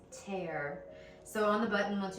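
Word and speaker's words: tare: digital scale, but I have looked up the pronunciation, and apparently it's tear.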